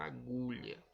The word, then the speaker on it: agulha: Nós temos a palavra agulha. Agulha. O gu é a penúltima sílaba, então ela é a sílaba tônica, que é aquela que foi pronunciada com mais força.